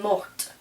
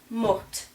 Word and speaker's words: morte: But the feminine, because it's got an E, I'm going to pronounce this last consonant. And so this is going to be elle est morte. So you hear that? Mort, morte.